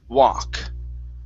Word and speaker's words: walk: walk right here so make sure that l is silent instead of walk it's walk walk okay very good next